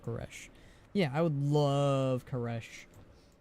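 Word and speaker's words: K'aresh: it karish koresh koresh it's pronounced quresh yeah I would love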